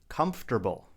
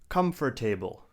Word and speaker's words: comfortable: Let's get right into the video and start with the first word, which is comfortable. Do not say comfortable. We say comfortable. There are 3 syllables.